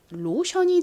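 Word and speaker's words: lotion: 끝부분에 덩어리 소리가 나왔어요 t이 덩어리 철자의 발음이 어떻게 된다고요 si과 마찬가지로 소리가납니다 아주 아주 자주 쓰이는 덩어리 자이기 때문에 반드시 알아두셔야 됩니다 자 자 연결해 보면 로션이 됩니다 로션 잘 알고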